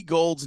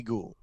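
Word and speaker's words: Gould: for forever yeah forever we thought that Robbie Gold's name in Chicago was Robbie ghou he allowed for coaches members of the media and fans to call him Robbie ghoul for two years yeah before he was like my name is actually gold it's just has a you in the middle right right right right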